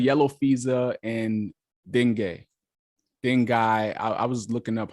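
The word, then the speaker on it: dengue: FEA and and ding dingi I was looking up how to pronounce this word and I was seeing all these different ways to pronounce it but I think it's ding d n g e uh so ultimately female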